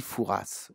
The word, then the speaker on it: Fouras: Oh là là là là, vous arrêtez un peu, mais j'ai dit Fouras ou Foura. Tout ça, ça dépend comment vous prononcez, évidemment.